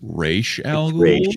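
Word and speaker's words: Ra's: 10 points perfect score uh excuse me it's pronounced race you nerd all right i was thinking about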